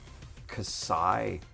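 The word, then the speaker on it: Xi: RX 105 uh is officially pronounced casai rhinging rhyming with sigh or sky um with a hard k sound at the front.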